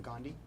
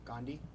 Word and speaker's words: Gandhi: River of India Alejandra the Ghandi say it again Gandhi I'll accept that pronunciation the science of the